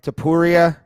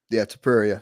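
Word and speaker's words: Topuria: That Tilapia or whatever, however you say his name, Tapuria. Tapuria.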